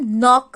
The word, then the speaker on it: knock: Now third, सी इसको हम नॉक नहीं बोलेंगे, के साइलेंट है, इसको हम नॉक बोलेंगे।